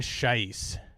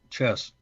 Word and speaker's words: Schiess: his name is scheisse am i pronouncing that correctly nope chess it's sorry so it's the second vowel it's uh chess chess so like the game like the game chess is sheathing swiss and